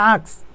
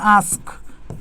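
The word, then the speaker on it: ask: যেমন আমরা বলি হচ্ছে তোমার আক্স, উচ্চারণটা কি আক্স না, উচ্চারণটা তো হচ্ছে আস্ক, কেটা শেষে আসে না, ঠিক একইভাবে এটা হচ্ছে মাস্ক।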